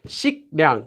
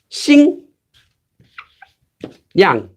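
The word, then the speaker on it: 식량: So if you have this, shiknyang, shiknyang, how could you say shiknyang, shiknyang? It sounds really difficult. Shiknyang, shiknyang, shiknyang. It becomes xing, yang, xingyang, xingyang.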